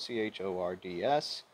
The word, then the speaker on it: chords: All right, chords is spelled C-H-O-R-D-S. I tried to pronounce it chords when I was in school. Nope, it's chords, like C-O-R-D-S. The H is silent, so to speak, right?